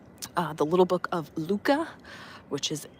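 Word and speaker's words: Lykke: our conversation about uh the little book of Luca, which is spelled, look at this bird over here. Uh, it's spelled L Y K E, but it's pronounced Luca.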